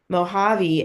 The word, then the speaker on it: Mojave: actually a Spanish word in Spanish the J makes the H sound I don't know if you knew that but this is pronounced Mojave and have you ever